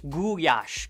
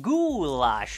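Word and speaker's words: gulyás: dish everyone knows about, gulyash, commonly pronounced goulash, which.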